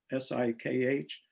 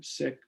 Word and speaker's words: Sikh: we studying the six s-i-k-h most of us pronounce it sikh but it's sick just like being ill because it was a